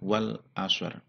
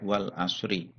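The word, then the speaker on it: وَالْعَصْرِ: Ya, ini karena satu ayat ini dibaca waqaf, maka membacanya adalah wal asr, tidak wal asri.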